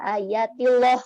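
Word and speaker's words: آيَاتِ ٱللَّهِ: Nah, jadi tidak ayatillah. Kenapa bacanya ayatillah? Karena sebelumnya huruf berharakat kasrah. Ya. Jadi cara bacanya tipis.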